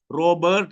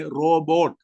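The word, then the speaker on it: robot: कठपुतली को, hello, रॉबर्ट को, रॉबर्ट नहीं है, किसी का नाम है रॉबर्ट, मत बोलिएगा रॉबर्ट, रॉबर्ट नहीं, रोबोट, मशीन से बना हुआ है कठपुतली।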